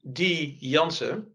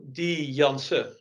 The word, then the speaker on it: Janse: So for example, when you call me D. Janse and you pronounce it with an N at the end, that's a common name in the Netherlands, so everybody does that. But it's wrong. So then we correct it to D. Janse.